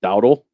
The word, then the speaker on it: Dowdle: It's Dowdle. Like Dowdle? Dowdle.